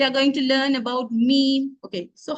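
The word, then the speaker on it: ميم: articulated or how the meme is pronounced what is the Mah of the mem so the M of mem is lip as well as the sound flows through the nose so this image gives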